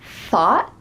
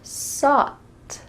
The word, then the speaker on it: thought: Did you hear thought or sought? You heard the second one, sought. But does this word start with an S? No. Instead, it starts with a TH.